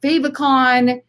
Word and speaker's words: favicon: Your site icon is also called a favicon, or some people pronounce it favicon.